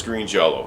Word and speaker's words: Green Jellÿ: It is Green Jello. It is spelled Green Jellÿ for legal reasons.